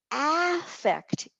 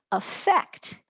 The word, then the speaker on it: affect: Affect is a noun. Affect, where the accent has shifted to the last syllable, becomes a verb.